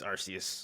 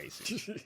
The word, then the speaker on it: Arceus: It's Arceus. Arceus. Asus? So- No, it's definitely not Aces.